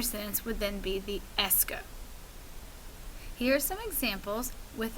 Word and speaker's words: est-ce que: Now, a lot of students, when they see it written, will mispronounce it, something like S-A-K. But remember that this is the S and this is the que. Est-ce que.